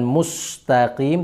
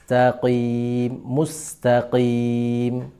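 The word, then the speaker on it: مستقيم: Huruf sin sifatnya tipis, maka ketika disukun dia harus bersifat tipis, tersenyum, meskipun sebelumnya dia ada dhammah. Mu ketemu dengan sin, mus. Jangan sampai membacanya mus. Kalau mus jadinya seperti so dia, jadi tebal. Bukan mustaqim, tapi mustaqim. Ya.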